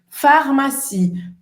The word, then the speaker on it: pharmacie: Olha, a farmácia se escreve com PH, mas tem som de F, tá? E o IE no final tem som de I, tá? Mais uma vez o E no final da palavra, sem pronunciação.